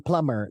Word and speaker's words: plumber: you about Pub yes B is silent in Plumber now but originally it